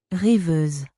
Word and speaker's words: Rêveuse: Reviews ini diambil dari bahasa French. Ini aku attach cara bacanya karena aku takut salah baca. Rêveuse.